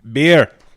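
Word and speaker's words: Bier: I just do the beer. I just be like, you know how you say beer in German? Beer. Beer. But it's spelled B I E R.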